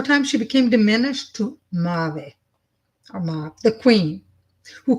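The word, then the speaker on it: Maeve: But Mav is responsibility, and it's pronounced Mave. Mave? Mave.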